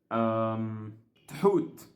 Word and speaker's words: Thoth: by, Isis or Isit, Thut or Thoth, as Nefer pronounced his name in Genshin. And the reason why that was pronounced like that, I'm gonna talk about another fragment here. But the pronunciation of that word was like that because she read it the way it's written, and nothing wrong with that.